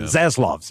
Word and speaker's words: Zaslav: Zaslav.